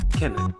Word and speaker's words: Kennan: Therefore, the correct pronunciation of my name is Kennan.